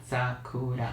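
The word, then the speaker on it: 桜: supposed to be again uh Sakura so the emphasis is on the first syllable Sakura oh for that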